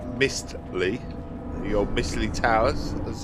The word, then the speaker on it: Mistley: Oh, it sounds like mystery. Oh, pronounced wrong. Okay, it's definitely Mistly.